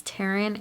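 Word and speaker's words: Tairn: I try to say her name, but it's Taryn and Andarna.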